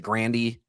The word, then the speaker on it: Grande: Ariana Grande goes by Ariana Grande but she herself pronounces it Grandandy.